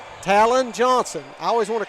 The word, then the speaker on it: Talon: Talon Johnson. I always want to call her Tailon.